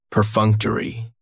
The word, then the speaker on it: perfunctory: Perfunctory has 4 syllables, and the stress is on that second syllable, that funk. Perfunctory, that third syllable has the schwa, and it's going to end with that long E sound.